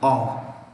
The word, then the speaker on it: of: Remember, of is pronounced ov, of. Ulta hai. Of is pronounced ov. So you are Raju of Hyderabad.